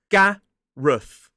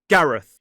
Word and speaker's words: Gareth: This is Gareth. G-A-R-E-Th. Gareth. So it ends in that voiceless TH sound. 2 syllables, stress on the first. Gareth. Gareth.